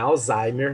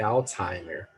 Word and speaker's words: Alzheimer: Não é Alzheimer, não. Não, eu sempre falei Alzheimer. Pois é, mas a pronúncia está errada. Sabia? É Alzheimer.